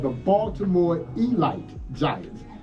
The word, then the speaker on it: Elite: team called the Baltimore Elite Giants. Now it's spelled elite, but it's pronounced elite. Yeah, you make those Negro Leagues mad if you call them the Elite Giants.